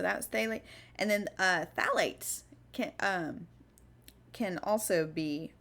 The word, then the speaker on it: phthalates: it's been a while so go ahead and spell it for you it's p h t h a l a t e s phthalates um and again these can be endocrine